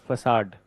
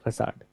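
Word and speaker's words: façade: So spelling of the facade is this and so in the beginning I used to feel that how come this pronunciation would be facad that this is the facade but anyway mentioned see Right.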